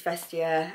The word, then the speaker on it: Vestiaire: I know in my last video I was pronouncing it wrong, but I believe it's Vestiaire.